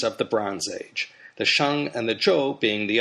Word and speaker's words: Xia: the subject for today the Sha Dynasty and that's spelled x i a in the pinion system of Chinese romanization I explained